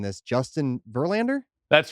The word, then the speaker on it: Verlander: come in number seven i hope i'm not mispronouncing this justin verlander that's right number seven justin verlander you got